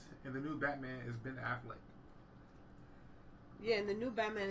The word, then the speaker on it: Affleck: laughing because how you said it's like Ben man. Affleck. Why you say it like that? Ben Affleck.